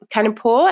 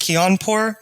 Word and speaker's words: Kianpour: by k can canapore and we kind of knows that i can't talk properly how did i go with your pronunciation there it's all right um my last name is pronounced keonpor but it was great